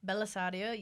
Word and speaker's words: Bellisario: Bellisario, yep, and Troyan.